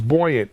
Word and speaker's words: Buoyant: is the ceo of it's buoyant right it's how you pronounce it yeah yeah and